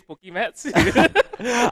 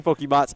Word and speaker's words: Pokemarts: Firstly, I'm pretty sure pronouncing it wrong. It is Pokemats. I don't care. I'm just saying Pokemarts unless I am literally corrected by their fan over here.